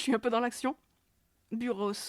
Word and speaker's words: Buros: Buros, ouais. Il prononce son S, ouais.